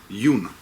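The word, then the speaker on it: hewn: from where they were yun. That's the right word? H-E-W-N, is that how you pronounce it? Yeah. Right. When they were yun, like an aquari, right?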